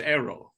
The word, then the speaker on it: Aarrol: Arrow is apparently very hard for them to pronounce. It's Aarrol.